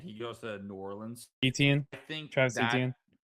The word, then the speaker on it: Etienne: goes to New Orleans, Etienne, I think Travis that Etienne. well his he actually did say in his press conference the correct pronunciation is Achan.